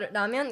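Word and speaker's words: 라면: It's called ramyeon. Yeah, it's Korean. Ramen, spelled like that is Japanese.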